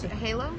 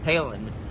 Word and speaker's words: Halen: And what's Halo? Halen. Halen. How do you spell it? Halen. As in the Van Halen.